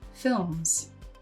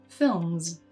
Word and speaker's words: films: You can hear in Matthias's pronunciation that he uses s at the end of words like lanes. It's the same sound he uses at the end of the word films. However, in English pronunciation, many words that end in an S spelling are pronounced as z. In this course, you'll learn the rules that govern this pronunciation and take your English to the next level with pronunciations like lanes and films.